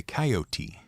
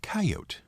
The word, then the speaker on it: coyote: the show with your complaint how do you pronounce the word spelled c yo t e some people say coyoty and some people say coyote so which is it well if you're the